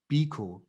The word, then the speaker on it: Biko: and the life of steve biko how you pronounce it yes pico is correct yeah so i think